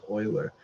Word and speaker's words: Euler: the last name here e l r is pronounced Oiler and it's actually after him that the number